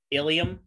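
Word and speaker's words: ileum: And then homonyms are pairs of words that are pronounced almost. They're almost the same way, but they're spelled differently and have different meanings. An example of that would be like ilium, I-L-E-U-M, and then ilium, I-L-I-U-M.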